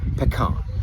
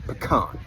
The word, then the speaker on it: pecan: it will probably be pecan, because that's how you pronounce it in Texas, pecan. You do not pronounce it pecan, like the Brits do.